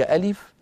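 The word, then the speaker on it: ألف: واحد وهو حرف الف الف الف الف الف كما تلاحظون عندما انطق اسمه عباره عن همزه مفتوحه لام مكسوره فاء ساكنه الف طب اين امد المد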